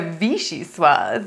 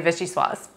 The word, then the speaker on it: Vichyssoise: So Vichyssoise, So if you want to be fancy, you say a Vichyssoise. And if you want to be American, you just say Vichyssoise.